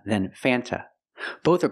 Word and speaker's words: Fanta: is pronounced f f use the short a sound before the N it changes a little bit it becomes a little more nasal in your nose f f f f